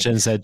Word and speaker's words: Gen Z: if you look at gen Z or gen Zed it's pronounced gen Zed Jack yeah well whatever